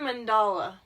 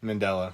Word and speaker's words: Mandela: know who Messi is Nelson mandala you can't say his name right Mandela Mand it's Mandela Nelson Mandela is not a